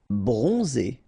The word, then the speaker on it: bronzé: Bronzé, so O-N, on, and then Z, it's really pronounced like Z.